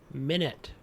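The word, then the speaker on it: Minit: And over on the infamous Epic Store, your free game for the week is called Minute. It's spelled M-I-N-I-T.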